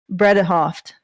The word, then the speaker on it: Bredehoft: referring to amber heard's lawyer is named elaine bredehoft that's that's the way they pronounce it um so he she was obviously